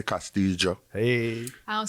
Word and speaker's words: Castillo: pronounce things properly but we don't pronounce it in like the castilian spanish which was you know